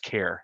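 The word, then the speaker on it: CAIR: I'm gonna check there, Katherine thank you center for analytics, informatics, and research pronounced care.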